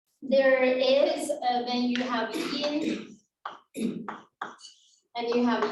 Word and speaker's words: yin: So, for example, in the idea of qi, there is when you have yin and you have yang. That's the pronunciation.